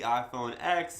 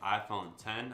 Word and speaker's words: iPhone X: the way to the iPhone X and of course XS max X s and X oh and by the way according to Apple you supposed to pronounce it 10 or 10s and 10's